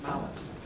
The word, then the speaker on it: Maillet: Since his retirement in 2001, Maillet, or Maillet, depending upon how you pronounce it, he informed me, he says Maillet.